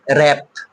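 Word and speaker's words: wrap: আমরা আরো এক্সাম্পল দেখব ডব্লিউ আর এ পি র‍্যাপ এখানেও কিন্তু ডব্লিউ টা সাইলেন্ট আছে আমার মূল উদ্দেশ্য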